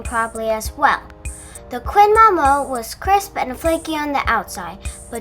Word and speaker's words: Maman: When you first see the name, you'll likely pronounce it Maman. Like, hey, what's up, Maman? Just like I did at first. But I did some research and found that in French it is pronounced Maman.